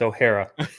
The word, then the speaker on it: O'Hara: It's O'Hara. It's you O'Hara. put a little twist on it, and I liked it. But O'Hara.